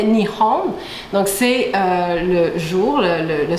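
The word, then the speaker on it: 日本: Le Japon, en fait, ça se prononce en japonais Nihon.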